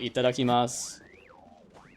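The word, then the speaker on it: いただきます: Uh, in Japanese, it's it's typically standard to drop the U if it ends the word. So like itadakimas, it's sort of like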